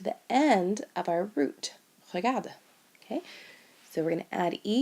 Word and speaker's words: regarde: What you may notice is that 4 of the forms sound exactly the same. The je, tu, il, elle, and il, elle plural all are pronounced regarde.